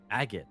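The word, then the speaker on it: Agate: Agot. That's how you pronounce it.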